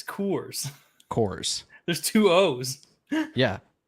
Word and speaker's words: Coors: that's what it sounds like that's how it's pronounced it's Coors cores there's two o's yeah cores anyway um